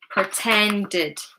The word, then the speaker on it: pretended: Well done guys. Id. Pretended, pretended. So we're adding an extra syllable.